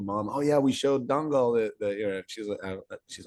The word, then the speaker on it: Dangal: It's spelled Dangal, but if you mispronounce it, it's like Dungal.